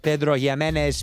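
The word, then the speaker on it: Pedro Ximénez: This stuff is finished in Pedro Jimenez PX Echerica. You got to say it like that, otherwise it doesn't count.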